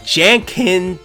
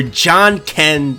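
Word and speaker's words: Janken: was being attacked by Jen Ken the great or John Ken the great if I should say correctly and trust me I have to say it correctly because this is a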